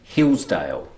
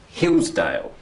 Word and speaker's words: Hillsdale: Have a look at Hillsdale. Which is the strong syllable? Is it hills or is it dale? Hills. Hills. That's right. So it's Hillsdale.